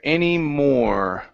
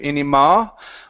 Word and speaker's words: any more: Any more. Okay, give me a good R sound at the end instead of any ma. More.